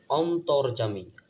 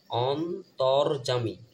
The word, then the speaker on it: অন্তর্যামী: তারপর লক্ষ্য করেন যত গুণগান হে চিরমহান তোমারি অন্তর্যামী অন্তর্যামী দেখেন স্বরে দন্তন্য অন ত সংযুক্ত র‍্যাব ত এর সাথে এই র‍্যাব এর উচ্চারণ হবে তর অন্তর্যামী আরেকটা জিনিস হচ্ছে যে